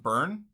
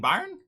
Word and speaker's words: Bayern: we'll keep it rolling is pronounced burn who that guy with his name saying bayern interesting that's fun okay pack